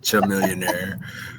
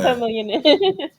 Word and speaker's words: Chamillionaire: wow I used to I always used to pronounce it chillionaire really oh no CH millionaire yeah but um you know like chameleon but it's just spelled different um I was trying